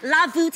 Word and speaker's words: La Voûte: You're just gonna pronounce it, but with a V, La Voûte, and it's actually the French words for the vault.